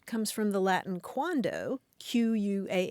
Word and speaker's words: quando: meaning a prompt C comes from the Latin quandoo quu a n d o which means when